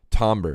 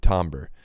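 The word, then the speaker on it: timbre: this is a um tomber it's spelled t IM BR e tomber it's pronounced differently than it's spelled and the the thing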